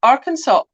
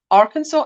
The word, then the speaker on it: Arkansas: last is in arkansas because it's the plural version of the french word for the art is it arkansas arkansas indigenous tribe wow that